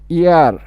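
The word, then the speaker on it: heir: এই যে এইচ ই আই আর, এটার উচ্চারণ হচ্ছে ইয়ার। ইয়ার মানে উত্তরাধিকারী। ইয়ার মানে কি? উত্তরাধিকারী, ইয়ার। ওকে, তো এখানে দি king left, দ্য king left হেয়ার। হেয়ার না, হচ্ছে ইয়ার।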